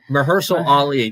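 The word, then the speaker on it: Mahershala Ali: trying to I was trying to think of mersal Ali that's how you say his name um but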